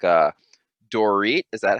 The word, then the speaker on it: Dorit: now we're talking about beverly hills like uh dorit is that how you say her name yes